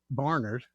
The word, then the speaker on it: Barnard: And now some of the post office folks, your last name is Barnard in the area, is what you told me. They pronounce it that way.